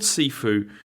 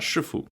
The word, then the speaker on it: Sifu: Well, okay, it's called Sifu, but then this must be like Cantonese pronunciation or whatever, because in Mandarin this is like Shifu, and so every time